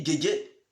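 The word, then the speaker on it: Djedje: Et vous écrivez Guégué à part. Guégué s'écrit comme vous le savez. D-J-E-D-J-E.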